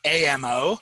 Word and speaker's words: AMO: this acronym uh it's amo i pronounce it like ammo like make sure you bring your ammo to social media advertising and it's the three